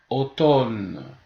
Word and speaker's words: automne: on voit pas démontrer alors on dit Montréal automne on ne dit pas au top le M